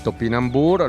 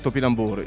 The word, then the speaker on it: topinambur: in mano è il topinambur lo pronunciano la francese allora questo era conosciuto